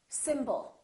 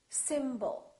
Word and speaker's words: symbol: we have two syllables the first syllable is stressed and the second syllable is reduced when we have a